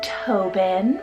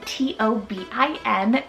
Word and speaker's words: Tobin: I then have Tobin for the boy side, T-O-B-I-N, Tobin, with the nickname of like Toby.